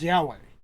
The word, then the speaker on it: Yahweh: utter the name and the pronunciation they recorded the samaritans was yahweh that's how we know